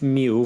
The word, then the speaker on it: mil: some pronunciation tips here that l in me it doesn't have a strong l sound that L actually has an o sound so it's not M it's me me now in the following